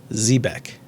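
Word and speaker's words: xebec: e b e c that's an x at the beginning x e b e c pronounce z back now the x sound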